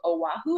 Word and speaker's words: Oahu: No, I've only ever been to Oahu.